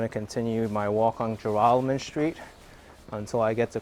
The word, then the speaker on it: Joralemon: I think I called it Joralemon, and then Joralemon and Joralemon. But proper way is Joralemon.